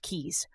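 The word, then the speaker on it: Caius: Famed physician John Cais pronounced keys, literally blamed astrology.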